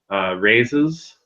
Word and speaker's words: Rhazes: I've also had good luck with one called Rhazes, which is spelled R-H-A-Z-E-S.